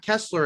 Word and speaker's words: Keeslar: Scream 3 is Matt Keeslar. I think that is how you say his name even though it's written as Keesler with double e.